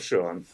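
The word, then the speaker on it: Schuon: the first name though ah frof so frof Shan yeah I mean he's he's in he's in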